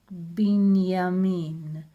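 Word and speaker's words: בנימין: And the letter Nun, N, and Shva, so it will sound like Binyamin. Shva Na, it's like a bit like Tzeirei, it's a small sound, but Shva Na, it closes the syllable, so it's like bin. And Yod with Kamatz, Ya, would be Ya. Mem with Hirik, yes, me. So Binyamin.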